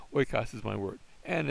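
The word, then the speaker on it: οἶκος: the same place, but I could have gone hoikos, but that wouldn't be a word. Oikos is my word, and it's the word for house.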